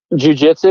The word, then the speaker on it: jiu-jitsu: Jiu-jitsu, yeah, you got jiu-jitsu.